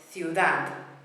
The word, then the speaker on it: ciudad: Words that end in these letters, the beat goes on the final syllable. And I've got an example of each one for you. We've got ciudad, which means town or city. Ciudad, beat on the ending.